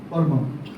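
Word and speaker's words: PERMA: মধ্যেই একটা ফর্মুলা আছে that is known as পরমা পি ই আর এম এ পরমা বলে একটা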